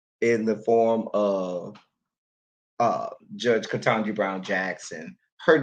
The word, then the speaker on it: Ketanji: But Katanji, three syllables, three syllables, y'all got a problem with that.